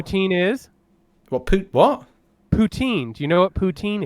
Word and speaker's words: poutine: implants it properly pout pout een you said pouting but it's it's pronounced poutine poutine yeah I gotta be honest it sounds worse